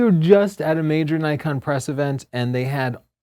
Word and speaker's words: Nikon: just say we were just at a major Nikon press event and they had many of the higher-ups there from Japan and they all know that's a Jeff the Japanese guy said Nikon oh really cuz I heard them say Nikon